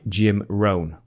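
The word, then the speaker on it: Jim Rohn: most time with this is a quote by Jim ran now this is spelled j i m r o h n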